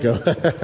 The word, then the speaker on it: Stanko: Most people don't pronounce it. Stanko.